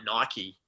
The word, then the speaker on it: Nike: like a brand like nike right so all their all their advertising that they do is purely brand awareness i'm glad you pronounced nike properly too a lot of people say knife and it really annoys